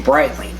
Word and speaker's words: Breitling: It's spell It's said like bright and then l i n g, Breitling.